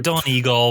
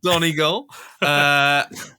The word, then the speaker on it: Donegal: Have I pronounced that right, Chris? Thank you. Donegal, but you'll get away with it. Donegal.